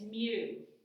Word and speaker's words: mu: it in advanced math it's mu that's how you say it it's 10 to